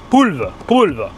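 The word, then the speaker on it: polvo: Poulve. C'est ça qui se prononce comme ça en portugais.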